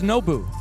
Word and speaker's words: Nobu: I think Nobu might be seeing Champions Field once again. So it's Nobu. Nobu, yeah. Nobu, okay. It's like N-O-Bu.